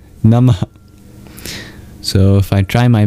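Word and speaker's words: नमः: Finally, at the end of nama is a mini exhale symbolized by an H with a dot under it or these two dots you see in the dva nagari. It's known as a visara an expulsion of breath nama.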